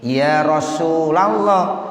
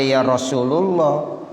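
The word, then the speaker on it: يا رسول الله: bacanya Ya nurol Aini Ya Rasulallah jangan baca Ya Rasulullah Ya karena mudanya munada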